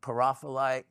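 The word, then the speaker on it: pyrophyllite: I have uh wow that's really have some pyrofilite there. Um or some people call it parafholite. I've heard it pronounced multiple different ways.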